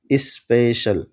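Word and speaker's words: special: چیز یہ ہے کہ اگر سی کے بعد آئی اے یا ای اے ہو تو وہاں عام طور سے شین کا تلفظ ہوتا ہے، جیسے سوشل، اوشن، اسپیشل۔ سوشل کے اندر سی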